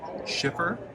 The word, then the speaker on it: Schiffer: So we were at Schiffer Publishing.